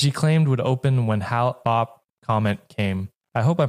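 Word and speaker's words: Hale-Bopp: claimed would open when Halop comment came. I hope I'm pronouncing that right. So, Haley's comment. No, no, it's not Haley's comment.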